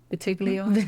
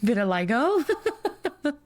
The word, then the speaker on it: vitiligo: And scar camouflage for burns or vitiglio? No, vitiligo.